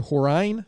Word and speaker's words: Horine: We have Horine with us today. Did I pronounce that right?